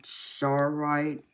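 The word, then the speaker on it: charoite: um this one here this is that um shite I think is how you pronounce it it's spelled c h a r o i t e or something like that this black one is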